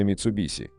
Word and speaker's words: Mitsubishi: Предпоследний звук в японском языке в действительности читается как нечто среднее между «с» и «ш», но ближе к «с», чем к «ш», поэтому подавляющее большинство японистов и